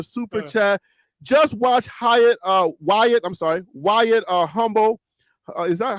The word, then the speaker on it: Hummel: Just watch Wyatt Humble. Is that how you pronounce it? Humble or Hummel? White Hummel. Hummel, yeah. White is Hummel.